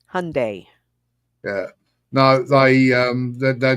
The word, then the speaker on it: Hyundai: name it's hundy see I was told like uh hot fudge Sunday Hyundai yeah no they um